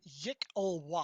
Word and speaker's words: Yklwa: uh, YKLWA, pronounced Yik-Ulwa.